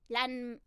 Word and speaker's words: Ranma: No, Japanese pronunciation is RANMA. It really, but like, yeah, because of the M thing.